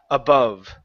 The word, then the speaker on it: above: instead of above okay it's an uh it's a schah above above good so the A and the O are going to sound exactly the same uh uh AB above